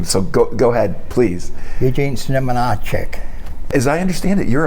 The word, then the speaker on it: Znamenacek: I'm going to call you Gene Z, but I'm going to let you pronounce the last name. So go ahead, please. Eugene Znamenacek.